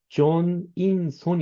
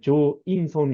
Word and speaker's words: 정인선: 왜냐 하면 'n' 발음 을 빼면 ' 조인선 ' 이 되는데 , 제 이름 은 ' 정 ' 으로 시작 하거든 요 .